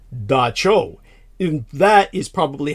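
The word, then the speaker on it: Dab Tsog: TSOG, in other words, DAB space TSOG, Dab Sog, is how you would think it would be pronounced. It's really pronounced Da Cho.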